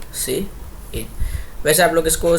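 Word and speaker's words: cin: display हो ठीक है ध्यान रखना सी प्स प्स के अंदर प्रिंट नहीं यूज होता क्या यूज होता है सी आउट ठीक है और इसीलिए आपको मैंने यह प्रोनंसिएशन भी नीचे दिया है क्योंकि स्टार्टिंग में कभी कभी कंफ्यूजन हो जाती है वेल मैंने दिया नहीं है क्या एक सेकंड गु हा देखो ये रहा जैसे कि य हमने लिखा सी आउट और य हमने लिखा सी इन वैसे आप लोग इसको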